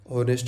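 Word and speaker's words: honest: ऑनेस्ट होगा तो हम होनेस्ट नहीं बोलते। ऑनेस्ट बोलते हैं।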